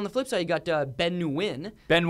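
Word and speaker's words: Nguyen: flip side you got Win Ben Win Ben Win Ben wi did you know that one cuz you know what I I you don't pronounce the N I know a few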